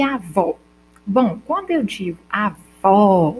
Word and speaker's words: avó: unidade sonora ou seja como eu digo só avô eu tenho um de que tu o tube e do ou quando eu digo avó eu tenho só do ar do v e do ó a diferença que uma é mais fechada que a outra ó já letra é a